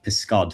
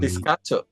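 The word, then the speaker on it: pysgod: Um but outside of that, um I love piscod, which means fish. Um piscato. Piscato. Piscod. So it's spelled um p ys g o d.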